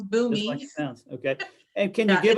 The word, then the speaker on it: Boomi: I've not heard of boomi how do you spell that or maybe you could put it in the b-o-o-m-i okay just like it sounds boomy okay and can you